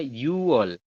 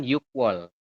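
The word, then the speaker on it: 유월: teman-teman harusnya kan Tapi di sini penyebutannya adalah apa yang hilang gioknya Oke jadi yang berbeda adalah bulan 6 dibacanya yall bukan yuk wall kemudian satu lagi yang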